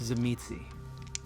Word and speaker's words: Tzimisce: And as I get to the door, I'll turn, look back at Julia, and say, oh, by the way, it's pronounced Tzimisce.